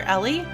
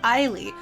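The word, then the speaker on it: Eilie: chair so i always called her ailee and then i knew people who called her ellie and i apparently internalized that but that's not how i've ever said her name so i'm going to say her name the way i think it should be said which is isley because it has e i it's not e-l-l-i-e rina is being a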